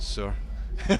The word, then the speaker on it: SAOR: That's how you pronounce it, SAOR.